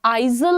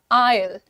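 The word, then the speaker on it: aisle: तो ये जो बीच का एरिया होता है इसका प्रोनंसिएशन आइजल नहीं है। The pronunciation is आयल आयल आयल। आई Al right?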